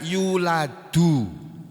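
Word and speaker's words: يُولَدْ: tidak pula dilahirkan ini kata-kata ini asalnya yuladu tapi berubah menjadi yulat di sukun Kenapa karena ada lamnya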